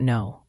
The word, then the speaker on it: know: The k in know is silent. Practice dropping that T. I don't know.